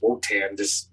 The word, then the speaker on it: Wotan: Now this Wotan guy, what pantheon is he It's not Wotan, it's Woden. Yeah, Woden. What pantheon is he from? That's a good question. Because if it's Woden, it could be just Wotan. Some people pronounce it differently.